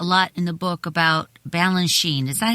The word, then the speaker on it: Balanchine: you talk a lot in the book about Balanchine is that how do you say it Balanchine yes George B George Bine and his you